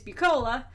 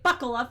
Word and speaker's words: Bucola: Because my last name is Bucola, but as soon as someone sees how it's written, they say Buccola for the rest of my life, or Buck-cola.